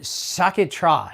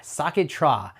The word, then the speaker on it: Sciacchetrà: let me look at how to pronounce this. It's called La Polenza. Well, that's the brand. So it's called, it's called Sciacchetrà. Sciacchetrà.